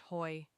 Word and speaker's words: Hoey: even more dangerous, the Hoy Commission. The name comes from Senator Clyde Hoey, spelled H O E Y, but pronounced Hoy.